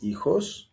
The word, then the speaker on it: hijos: Tienes hijos? Tienes hijos. And this is asking if you have children. Remember, H is silent here.